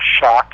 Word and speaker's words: Schoch: I say my website absolutely yeah www Robert shock and my last name is spelled s c h o c h so